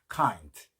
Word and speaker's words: kind: 카인드 해도 되지만 뒤에 D는 들릴 듯 말듯 하는게 좋다고 했죠. kind 친절한 물론 종류라고 쓰신 분도 맞는 겁니다.